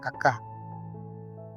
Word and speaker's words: kakak: ছায়া এইযে এখানে দেখেন আবার লাস্টে কেটে এসে পড়েছি কাকা এখানে লাস্টে কেটা পড়বো না এখানে কেটা বাদ দিয়ে উচ্চারণ করবো আমরা কাকা আমার বোন কাকা ছায়া